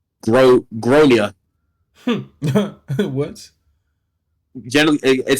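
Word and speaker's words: Gráinne: She asked what I meant, and I said, well, in Ireland, they typically pronounce it as Gronia.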